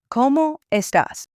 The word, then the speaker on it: ¿Cómo estás?: The emphasis is on the first O in como and the A in estás. ¿Cómo estás?